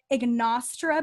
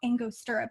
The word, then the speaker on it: Angostura: i think it's called i've been pronouncing it ignastra bitters for the longest time everyone always looked at me strangely and i think it's because no one else knew how to pronounce it and i was writing it in my book and i was like it's called angostura bitters i was really embarrassing